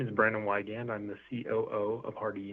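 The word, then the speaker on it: Wiegand: Hi, my name is Brandon Wygand.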